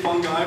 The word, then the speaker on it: fungi: So mold, first of all, is a fungi. Now I'm going to say fungi, but it's properly pronounced fungi. It just sounds weird and ridiculous, so I'm just going to keep going on with fungi.